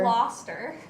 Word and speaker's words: Gloucester: It's Gloucester. actually Gloucester.